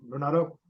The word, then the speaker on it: Renato: Renato.